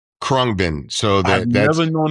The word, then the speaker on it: Khruangbin: Khruangbin.